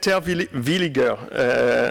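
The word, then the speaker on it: Terwilliger: So, Terwillinger, I'm German speaker, so I pronounce it the German way, is Assistant Professor Aeronautics, Program Chair of the Master of Science on UAS in Embry-Riddle.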